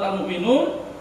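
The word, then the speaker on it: المؤمنون: Meskipun namanya almukminun ya terus ditulis almukminin Tapi bacanya almukminun Ya surat awal surat almukminun berarti almukminun tidak sekali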